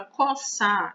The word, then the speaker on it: coçar: Mas quando a gente vai falar de fonema, o CO, né, esse CO, ele se transformou em K, porque o som do CO não é de C, é de K, é como se fosse um K, certo?